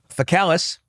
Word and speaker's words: faecalis: And gram-positives you're going to get from the community that you should worry about are Enterococcus faecalis, which is annoying that they pronounce that one with a hard C and then faecium, which